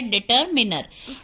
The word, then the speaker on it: determiner: डिटरमिनर not minor, ये minor नहीं होता, इसकी प्रोनाउंसिएशन होती है डिटरमिनर।